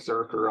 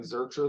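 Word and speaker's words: Zircher: he put it in his bio because I was saying Zercher the whole time, but then his bio says rhymes with worker.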